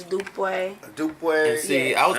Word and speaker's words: Dupe: Dupe. Slang way to say it, Dupe, but Right. legally correct is Dupe.